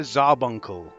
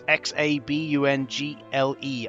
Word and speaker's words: Xabungle: And that is the racing action, Sento Mecha Zarbuncle. Yeah, I don't know how to pronounce it, right? Zarbuncle, I think it's pronounced. It's Xabungle.